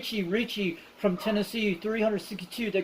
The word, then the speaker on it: Richie: Yeah, it's Richie. Romeo India Charlie Hotel India Echo. Not Ricky.